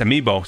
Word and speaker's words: amiibo: are really nice let me look how to pronounce this Amy Amo amiibo amiibo okay it's amiibo so I about a few amiibo as well